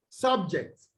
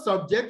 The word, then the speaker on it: subject: Okay, so the pronunciation of the word places the stress on the first syllable in subject. Okay, but on the other subject, which is a verb, you have the stress on the second syllable.